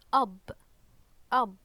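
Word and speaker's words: أب: later on uh is bear so this is pronounced up okay up means father in Arabic okay so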